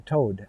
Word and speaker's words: toad: will not tow a toad a toad if you're new to this toad think of a towed vehicle t-o-w-e-d it's pronounced the same as the brigade frigate toad that hops around so they call them